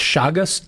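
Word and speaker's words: Chagas: can cause something called I think it's pronounced shagus disease.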